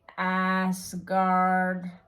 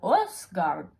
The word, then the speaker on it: Åsgard: And of all the things, do you really have to say Asgard? It's called Åsgard. If you can say that you're bored, which is pronounced like bored, then you can also say Åsgard.